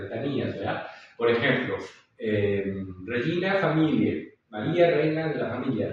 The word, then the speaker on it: familiae: Pues esa AE sabemos que, ¿no? Ya no tiene el sonido AE, sino que en la norma italiana se pronuncia E, ¿sí? E. No es AE, sino E.